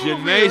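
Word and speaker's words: DeJanae: Janae Sy. The D is silent. We learned that some games ago.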